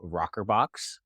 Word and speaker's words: Rokrbox: founder and CEO of rockerbox that's spelled a little strange it's r o krbx and we are a